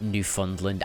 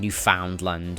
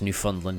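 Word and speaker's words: Newfoundland: And yes, it is pronounced New Fundland. I I kept saying Newf Foundland, but you know, it's New Land that you found, but no, it's New Funland.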